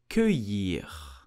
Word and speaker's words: cueillir: So we will say cueillir, cueillir, cueillir. Here the letter C-U-E-I will make the sound que, que. And then double L-I-R will make the sound year, so cueillir.